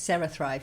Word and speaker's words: CeraThrive: I'm going to talk to you a little bit about your new startup, CeraThrive. That's right. Have I pronounced that right? Yes, CeraThrive, yes. CeraThrive, good.